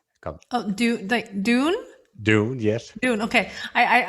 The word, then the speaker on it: Dune: All their songs are about the book June. Come, Oh, Dune? Dune, yes. Dune. Okay. I thought you were saying June.